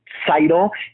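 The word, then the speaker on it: Tzeitel: interest her name is Seidel the there's a TZ at the beginning of her name and a lot of people who just don't have the knowledge might think that it's pronounced vital just with a z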